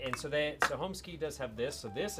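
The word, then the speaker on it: Holmes Cay: But yeah, like, and so Homeskey does have this. So this is actually it's called Holmes. Homeskey. Holmes. It says K, but it's key. Okay. That's the way it's pronounced.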